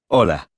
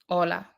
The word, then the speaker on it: hola: Hola. Hola. Did you notice that although hola starts with the letter H, it is not pronounced, the letter H is always silent in Spanish.